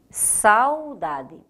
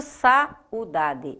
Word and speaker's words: saudade: saudade diferente de saúde saudade eu não digo sá o daad eu digo saudade eu faço isso numa única emissão sonora então se eu separar saudade em cima eu vou